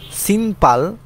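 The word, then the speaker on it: 신발: বা অধিকাংশ ক্ষেত্র তারপরে সিম্পাল সিম্পাল অর্থ হচ্ছে জুতা নিয়ন বাচ্চিমের পরে যদি বিয়োফ থাকে তাহলে বিয়োফটা সাংবিপের মত উচ্চারণ হয় তাহলে সিম্পাল মানে হচ্ছে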